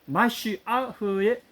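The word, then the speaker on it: משיח: 마시아흐입니다. 정확한 히브리 발음 마시아흐. 그 마시아흐의 마시아흐 예슈아 메시아인 예슈아의 손을 통해서 우리에게 왔습니다.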